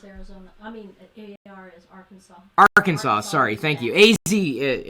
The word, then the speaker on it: Arkansas: it took me forever to realize it was Arkansas not Aransas even though it's spelled Aransas why isn't can isn't isn't if